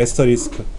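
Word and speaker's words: asterisk: 그걸 에스터리스크라고 읽어요. 에스터리스크.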